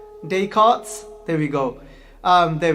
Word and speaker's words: Descartes: name up but i won't be able to pronounce it so he's gonna try and help me out here so i think it's dey cart descartes there we go um there we go yes